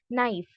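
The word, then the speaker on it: knife: आपने, जैसे हमारे इंग्लिश में कैसे साइलेंट लेटर्स होते हैं, यानी कि हम उसको नहीं पढ़ते, जैसे नाइफ, तो उसमें के तो लिखा है बट हम उसको बिल्कुल भी ओमिट करते हैं, जैसे कि वो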